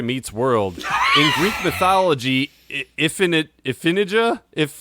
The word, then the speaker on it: Iphigenia: In Greek mythology, Iphigenia, how do you say it?